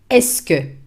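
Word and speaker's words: est-ce que: use to ask questions the fixed expression is eske eske in three words es pronounced esco there is an iphone hyphen between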